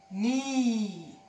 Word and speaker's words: knee: Knee. Hen does not talk. The K, sorry, does not talk.